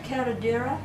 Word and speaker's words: curandera: did you ever learn how to do the curandera?